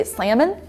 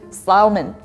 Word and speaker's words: salmon: in the country dialect you could still choose if you want to say the L or not it's like a personal choice so you can say Salamon or Salman you know something like